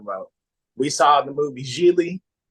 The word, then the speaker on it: Gigli: We saw the movie Gigli, rhymes with really.